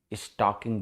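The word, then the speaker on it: stalking: ओ नहीं होता है एस टी ए एल के आई एन जी स्टॉकिंग बोलते हैं इसको एल इसमें साइलेंट होता है और यह एक तरह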